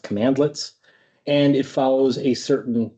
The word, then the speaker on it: cmdlet: CMDLETS is how it's written. It's pronounced commandlets.